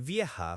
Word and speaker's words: vieja: For old, for a person, we typically use viejo for masculine, V-I-E-J-O, and vieja for feminine, V-I-E-J-A. Okay, so mi abuelo es viejo and mi abuela es vieja.